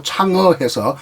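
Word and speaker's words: 嫦娥: 달의 여신 항아를, 한자말로 항아를 중국 지금 발음으로 창어해서 뭐 창어 메토 이런 식으로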